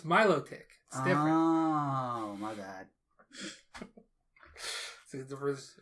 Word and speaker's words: Milotic: melodica i didn't say a melodica no melodic the pokemon no that's milotic oh my god so